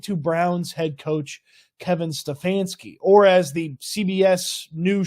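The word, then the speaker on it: Stefanski: award that went to Brown's head coach Kevin stefansky or as the CBS new show that nobody's gonna watch actor said Stephen stansky not great for your show called tracker when you can't even track the right pronunciation of an award winner but let's Dive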